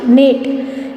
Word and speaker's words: knit: Then KNIT, knit. K is silent over here because when we pronounce it as knit.